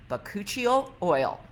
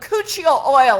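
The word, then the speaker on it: bakuchiol: say this key ingredient the key ingredient is vacuole oil how do you spell that b-a-k-u-c-h-i-o-l but cuccio oil everybody say that with me five times but kuchil oil but Couture oil but Couture oil three's enough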